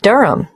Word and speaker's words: Durham: At 1 Yoronga Street, Durham. How do you spell Durham? D-U-R-H-A-M. Of course, I should know that. But it's just one of those names that sounds quite different from the way you spell it.